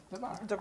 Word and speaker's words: Darver: so in your clothing store, because like we were saying earlier, a lot of people pronounce it Darvers, but please pronounce it correctly. Darver.